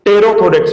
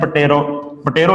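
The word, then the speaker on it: pterothorax: दोनों को मिला के टेरोथोरैक्स वर्ड यूज करते हैं। पटेरो नहीं बोलना, पटेरोथोरैक्स। इंग्लिश में कुछ वर्ड साइलेंस होते हैं, तो यहाँ पे भी पी है वो साइलेंट है।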